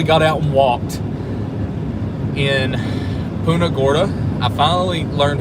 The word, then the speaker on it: Punta Gorda: Punta Gorda.